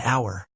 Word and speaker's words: hour: Examples: an hour, an honest man, an honor. Even though these words begin with the letter H, the H is silent.